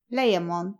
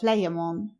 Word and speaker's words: Layamon: It may be remarked in passing that the ambiguity of pronunciation of this letter has misled modern writers into calling the author of the Brut Layamon instead of Layamon.